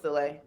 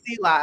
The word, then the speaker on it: Soleil: probably pronounced it another way, but it was Soleil. Yeah. Yeah. Grandma kept So saying Sela. I'm like, Soleil.